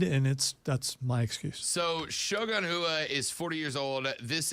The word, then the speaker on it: Shogun Rua: All right, so I did say his name wrong, but yeah, I got Namajunas right. It's Shogun Rua.